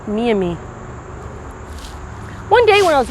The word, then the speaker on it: Miami: along the mommy river you might know us as the miami but we pronounce it me and me one day when i